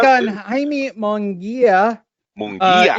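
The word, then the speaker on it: Munguía: Is it really Mungai or Mungia? I turn now to our Mexican analyst. Mungai or Mungia? Mungia.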